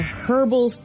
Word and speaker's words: herbal: body WP or a herbal rap I like you pronounce the h in that word instead of herbal it's herbal I've never heard that